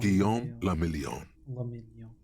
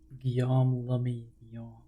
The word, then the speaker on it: Guillaume le Million: Guillaume le Million. If it doesn't rhyme, you're not pronouncing it right. Guillaume le Million.